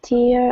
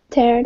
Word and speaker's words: tear: Yeah, so this one is a long E, this one is an E sound.